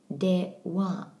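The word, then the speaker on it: では: Now this begins with de, wa. You'll notice the pronunciation of wa. That's because it's actually a particle in this word.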